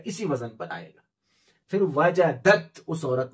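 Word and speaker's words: وجدتَ: तरह यहां पर वजदता, ये दाल और ता जो है सेम मखरज है, इसलिए दाल लिखेंगे लेकिन पढ़ने में नहीं आएगा, साइलेंट रहेगा, तो लिखेंगे वजदता, वअत्ता की तरह वजदता, लेकिन पढ़ेंगे वजदता।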